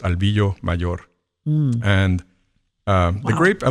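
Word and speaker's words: Albillo Mayor: Albio mayor. In in Spanish, it's pronounced Albio mayor.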